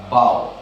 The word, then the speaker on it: bough: In fact it is pronounced as बाव। Doggy के बाव नहीं, इट्स बाव।